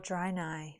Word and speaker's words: Draenei: Oh, Draenei.